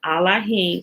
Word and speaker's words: Elohim: father is this remember allahing is the proper pronunciation of Elohim right remember there is no e in Hebrew so when they when